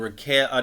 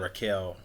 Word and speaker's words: Raquel: They're trying to pump Rhea and Raquel, not Raquel, yeah, Raquel Rodriguez, and like nobody fucking cares, and it's like it's so bad.